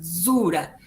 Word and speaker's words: zura: Esa D junto a la Z es como una Z más marcada, zura.